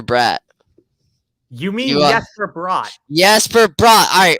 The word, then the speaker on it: Jesper Bratt: Jesper Bratt. All right, man. That's how his name's pronounced.